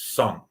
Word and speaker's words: Song: And for the Song Dynasty, the correct pronunciation is Sung, like S-U-N-G.